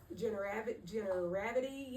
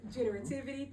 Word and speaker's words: generativity: Um, and also studying um Ericson is a theorist that I've studied and um generity if I'm saying it correctly, generity. Generative generativity.